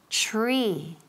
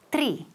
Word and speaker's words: tree: Now, ojo, la pronunciación, T-R, T-R, it sounds like ch, ch, como C-H, más R. So, for example, árbol, tree, good, muy bien, not tree.